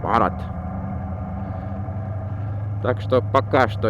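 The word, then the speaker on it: भारत: Бхарат. Как-то они произносят так. Бхарат.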